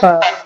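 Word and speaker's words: فاء: আমরা যে শুরুতে আলিফ উচ্চারণ করছি না, আমাদের উপরের দুই দাঁত নিচের ঠোঁটের পেটের সাথে লাগবে, লেগে উচ্চারণ হবে ফা।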